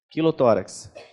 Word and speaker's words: quilotórax: Quilotórax. Então, quilotórax, quilo como se escreve quilograma.